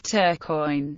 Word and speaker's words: Tourcoing: the action is sometimes referred to as the Battle of turquoise a gesture towards the English pronunciation of the town battle in a nutshell